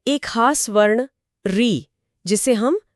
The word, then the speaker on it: ऋ: आज हम इसे व्यंजन र और स्वर ई को मिलाकर री की तरह बोलते हैं।